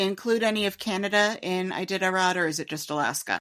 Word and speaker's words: Iditarod: alerted me that while we mispronounced Iditarod, their correction of it to Idiotarod was also wrong. So, Iditarod is a race where some very furry dogs pull people across Alaska in sleds, I think.